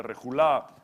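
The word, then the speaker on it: רְכֻלָּה: La palabra rejulá se transcribe así, reculá, y se pronuncia rejulá.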